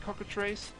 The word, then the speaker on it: cockatrice: I think I'm saying it right is it cockatrice yes it is the way I find the